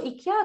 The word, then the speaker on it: IKEA: Okay, anyway, let's call it IKEA, the Malaysian way of pronouncing it, okay?